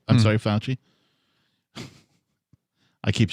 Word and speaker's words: Fauci: than uh somebody leaked some emails from anthony fashion i'm sorry fauci i keep saying it right yeah sure anthony